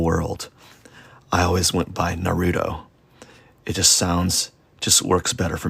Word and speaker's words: Naruto: I think I called it Naruto. And they're like, excuse me, it's Naruto.